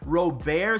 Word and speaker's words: Robert: in his home country, his last name is pronounced Robert, so he's fine whatever you call him.